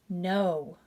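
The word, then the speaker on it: know: n sound knob knob here we have k-n-o-w silent k no silent k we have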